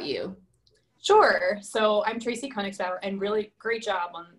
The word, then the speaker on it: Konigsbauer: little bit about you sure so i'm tracy koenigsberg and really great job on the pronunciation people butcher my last name usually so